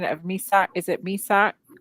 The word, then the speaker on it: Meshach: Can somebody give me the correct pronunciation of Misak? Is it Misak? Meshach Taylor.